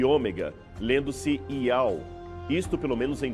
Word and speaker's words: Iau: Nele, o nome de Deus é transliterado pelas letras gregas Iota, Alfa e Ômega, lendo-se Iau.